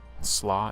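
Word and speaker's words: sluagh: S L U A G H. Slaw is acceptable.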